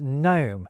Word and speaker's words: gnome: It's when the K and G stop being pronounced at the start of words like knight and gnome.